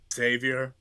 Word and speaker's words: Xavier: are spelled that way it's usually pronounced just as if it was a z xavior yeah that's that's like